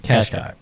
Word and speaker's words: Qashqai: Which, while we're on that, the styling of the cars, I mispronounce it every time, Tom. How do you say it? The Nissan Qashqai. Qashqai, yeah.